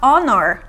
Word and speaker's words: honor: Porque aqui, ó, é escrito com H, mas o H é mudo. Então, eu vou falar honor, honor, an honor, an honor.